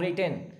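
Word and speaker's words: written: तुम लिख चुके हो वाइट नहीं बोलेंगे रघु यहां से साइलेंट है यू हैव रिटन नीचे का जो है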